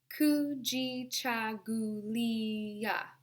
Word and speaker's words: Kujichagulia: Let's take that syllable by syllable. Ku, ji, cha. We'll put those 3 together. Ku, ji, cha. Ku, ji, cha. gu, gu, li, gulia, gulia. Now, when we put those halves together, kujichagulia, kujichagulia.